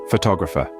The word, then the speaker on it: photographer: first syllable photograph while in photographer the stress shifts to the second syllable photographer and that's the beauty of